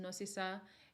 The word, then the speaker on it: Nosisa: But our middle names, my middle name is Nosisa, pronounced Nosisa, and it means like to have mercy, merciful, filled with mercy.